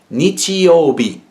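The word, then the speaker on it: 日曜日: The way you pronounce this is nichiyobi, and that's Sunday. That's what we would call Sunday. Nichiyobi. But as you can, so in this one word, Sunday, you actually have two pronunciations for the same kanji. You have nichi and bi.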